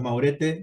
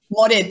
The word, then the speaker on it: Maurette: Estamos comunicados con Maurete. ¿Maurete o Mauret? ¿Cómo se dice? Moret se dice.